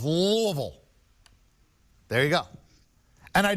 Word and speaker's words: Louisville: roommate from there says say it like you got marbles in your mouth louisville there you go and